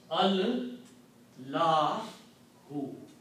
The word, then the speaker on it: Allahu: When we read it this way, there is an alif in between, we don't pronounce alif. So the word becomes Al La hu. Okay. See again. Al la hu. So we don't write this alif here, and it is written like this. Allahu. Okay. So the Arabic word is not Allah.